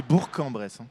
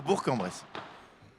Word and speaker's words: Bourg-en-Bresse: Alors attention Laurent, parce qu'on dit Bourg-en-Bresse. Il faut faire très attention parce que les gens sont très susceptibles ici. Donc il faut dire Bourg-en-Bresse. C'est mon accent du sud-ouest qui me fait pas prononcer. Mais maintenant que j'ai bien retenu la leçon, ça sera Bourg-en-Bresse.